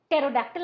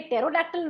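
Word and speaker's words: pterodactyl: लेकिन डोडला को ये टेरोडैक्टिल वर्ड या शब्द बड़ा पसंद आता था, क्योंकि स्पेलिंग में उसका पी है और पी साइलेंट है।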